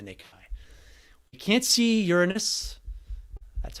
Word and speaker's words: Uranus: see with the naked eye we can't see uranus that's how you pronounce it we can't see neptune we can't